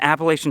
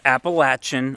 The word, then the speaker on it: Appalachian: And yes, it's Appalachian. I know I say it wrong. Little fun fact, Appalachian is actually the correct way to say it when you live in Ohio and don't give a shit.